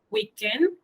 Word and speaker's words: week-end: Le week-end dernier, igual que lundi dernier, weekend, como en inglés, solo que cambia, la sílaba tónica cambia. En francés, weekend, y en inglés es weekend.